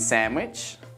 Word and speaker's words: sandwich: not handsome it's handsome take a moment to pronounce the following words that also have a silent d did you say badge Edge Wednesday and sandwich now repeat these sentences